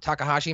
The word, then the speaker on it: Takahashi: Like, cause some of these, they just came out of nowhere, like that match and the Takahashi match. Is that how you pronounce his name? Yes. Right.